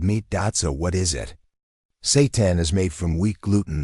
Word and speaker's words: seitan: Seitan, a wheat meat, minus 39 grams of protein per 100 g. No, that's not a typo. And no, we're not talking about anything evil. Seitan, pronounced seitan, is a plant-based protein